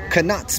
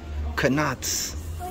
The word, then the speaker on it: Knott's: I say Knott's because there's a K. She says the K is silent. Then why do they emphasize the K so much? If it's silent, it might as well be invisible.